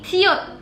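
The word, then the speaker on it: 시옷: Cara bacanya P atau B. Terus ada ini siut.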